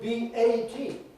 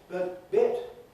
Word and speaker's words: bat: I would be saying the word b a t, which I personally pronounce bat, right? bit is typical of an Australian way of saying that even two vowel phonms